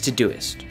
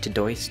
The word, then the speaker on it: Todoist: check the links in the description first is to duyst or some people pronounce it to dos but that just sounds wrong I absolutely love